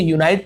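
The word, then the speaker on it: unite: यूनाइट यानी होता है संयुक्त करना फिर मिलाना, जैसे यूनाइटेड कहते हैं संयुक्त, वही है यूनाइट, क्योंकि ई लगा हुआ है इसलिए इसका उच्चारण हम आई करेंगे, यूनाइट। डाउन यानी नीचे, अप यानी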